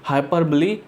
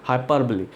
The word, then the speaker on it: hyperbole: इसलिए इसको हम हाइपरबली यानी अतिशयोक्ति अलंकार कहते हैं। ठीक है, इसको आप हाइपरबोल भी बोल सकते हो। ठीक है, नॉर्मल भाषा में, लेकिन जो इसकी सही प्रोनाउंसिएशन वो है हाइपरबली।